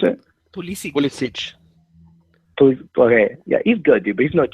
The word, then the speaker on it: Pulisic: So just figured I'd call in and tell everybody that you know, I can't pronounce his name. Poliski, or what's his name? How do you pronounce it? Pulisic.